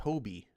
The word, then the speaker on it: Hobie: the leaders Eric green says it's pronounced Hobie that's racist Eric it's not a ho hob is a Hobie why is it why